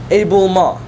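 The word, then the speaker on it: éboulement: try no yes close a bull maw right just a teeny bit more nasalized end but that was really good a bulma right and then the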